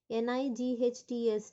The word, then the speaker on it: knights: NIGHTS nights மட்டும் இருந்ததுன்னா என்ன? Night ராத்திரி இரவுகள். Okay, KNIGHTS அதோட pronunciation கூட nights தான். K will be silent.